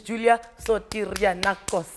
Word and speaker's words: Julia Sotirianakos: Her name is Julia Sotirianakos.